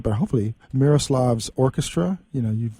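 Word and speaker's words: Miroslav Vitouš: You were on tour with I can never really say this right, but hopefully Miroslav's orchestra. You've Miroslav Vitus.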